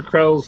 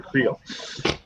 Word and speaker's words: Creel: Yeah, it's like when I first found out that Crusher Krell's name is really Crusher Creel. Although that's actually how it's spelled, so why I didn't know that for years, I don't know. But I always just pronounced it like Krell, you know. But it's clearly 2 E's, 1 L, not 1 E, 2 L's.